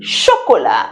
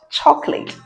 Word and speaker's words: chocolat: D chocolate that is chocolate in French. C8 sounds sh. And I said we don't pronounce the last sound.